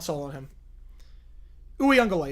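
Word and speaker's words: Uiagalelei: Uyunglele is how you pronounce his name. Uyunglele.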